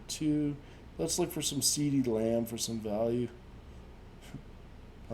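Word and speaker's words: CeeDee Lamb: let's look for some seedy lamb for some value i like how when you say his name it sounds like you're saying cd like who doesn't like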